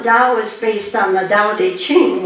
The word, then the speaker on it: Tao Te Ching: Now, the Tao is based on the Tao Te Ching, which is pronounced with a D, not a T, and credit is given